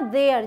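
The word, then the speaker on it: they're: अब यहाँ आते हैं, दे और आर को जोड़ेंगे तो बनेगा देयर। जैसे THERE की प्रोनाउंसिएशन होती है ना, वो देयर।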